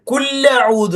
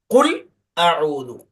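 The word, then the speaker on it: قُلْ أَعُوذُ: കുല്ലഊദു അല്ല, അത് തെറ്റാണ്. കുൽ അഊദു, കുൽ അഊദു. കുൽ എന്ന് പറഞ്ഞ് നിർത്തി പിന്നെ അഊദു അങ്ങനെ തന്നെ പറയണം.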